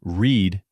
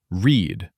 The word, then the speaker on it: read: Remember, read is spelled the same in the present and past tense, but pronounced differently. Present. Read rhymes with need. Past. Read rhymes with bed.